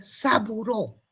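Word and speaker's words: Sabouraud: Se escribe sabourut y se lo pronuncia como agar saburó y también el agar micosel.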